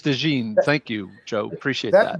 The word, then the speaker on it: DeJean: I've also heard it pronounced Cooper DeJean and DeJean. So I'm not sure the exact. It is DeJean.